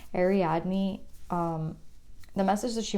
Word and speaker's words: Ariadne: felt like such an injustice to her to pronounce it wrong ariadne um the message that she wants to say